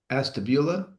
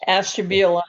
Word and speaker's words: Ashtabula: Grand River Valley AVA spreads across portions of Astabula. That's it, right? This time? Yes. Ashtabula, yeah.